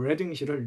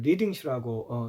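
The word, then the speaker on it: Reading: 심지어 철자가 같다 하더라도 발음이 다릅니다. 한국 언론에서 런던 주변에 있는 레딩시를 리딩시라고 소개하는 경우가 왕왕 있습니다.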